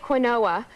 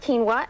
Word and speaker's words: quinoa: a product called quinoa and it looks like quinoa but it's actually pronounced quinoa and it's a whole grain that is a